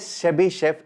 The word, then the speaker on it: Chebyshev: Now next इनकलिटी इज़ शेबी शेफ।